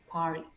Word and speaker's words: party: La R, la T y el sonido de vocal. Cuando tú veas una RT, sonido de vocal, elimina la T de nuevo. Por lo tanto, ¿cómo se diría fiesta? Party.